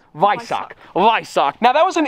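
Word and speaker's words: Weissach: the optional viso Pac the visce is that pronunciation right we I SS a CH H you'd think it's yck but it's vck vck now that was an $84,000 option it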